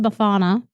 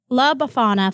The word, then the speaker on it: Befana: Her name is, I believe it's pronounced Befana.